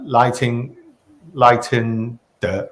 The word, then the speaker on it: 赖清德: Now, lighting the right? Did I pronounce it correctly?